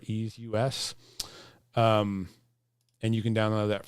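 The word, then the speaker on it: EaseUS: pretty good reviews is i want to say this is pronounced as ease us or ease us and you can download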